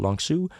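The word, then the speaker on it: Long Sault: Como Ontario Canada called longsu pronounced Su it's spelled like salt almost but for those reading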